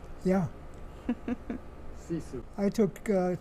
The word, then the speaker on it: sisu: Sisu.